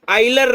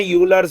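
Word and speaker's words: Euler: इसको actual pronunciation होता है बेटा आइलर्स नंबर। अब एक्चुअली इसको सब बोलते थे यूलर्स यूलर्स यूलर्स, यूलर्स नहीं है वो, आइलर है। इसका करेक्ट जो प्रोनाउंसिएशन है वो है आइलर नंबर, दैट इज 2.718।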